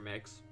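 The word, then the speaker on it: Mx: Looking up an MB title, only thing I can find is equal to Mr. and Mrs. is Mix. Apparently pronounced Mix.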